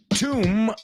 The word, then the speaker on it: tomb: Tomb rhymes with doom.